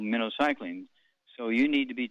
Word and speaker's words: minocycline: eight week supply of minnow cycling is pronounced like the bait fish minnow cycling minnow okay and because